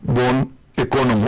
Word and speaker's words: von Economo: Entonces vamos a hablar del gran investigador y médico austriaco Konstantin von Economo, o Von Economo, que es como se pronuncia, ¿verdad?